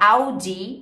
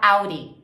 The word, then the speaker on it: Audi: para quase um R ao invés de você falar Audi Você pode falar Auri Auri Land Rover em